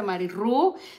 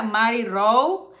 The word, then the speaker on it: Mary Rowe: antes decía Mary Rue, no se pronuncia Mary Rue, se pronuncia Mary Rowe.